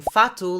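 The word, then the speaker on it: fato: were meant to be writing phatu like they do in Brazil or when we would say facto in Portugal according to the new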